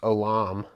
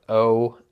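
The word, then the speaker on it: עולם: I'm going to pronounce it as Olam. It's spelled O-L-A-M. So Olam. And this is the word that is used to say everlasting or eternal.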